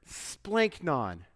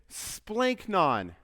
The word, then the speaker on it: splanchnon: and here's why one word one simple word splink non rolls right off the tongue let me let's just walk through how to pronounce it say it we're going to be